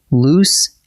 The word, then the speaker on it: loose: Loose rhymes with goose, and it keeps both of its O's, nice and roomy, exactly like the word means.